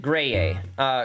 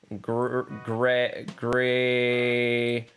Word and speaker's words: Greye: Anyways, I came from the planet Greye. Greye is spelled like this. Human language is weird. Gray.